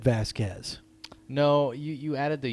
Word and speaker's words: Vasquez: That's pronounced Vasquez. Vasquez. What did I say? Vasquez. Did I?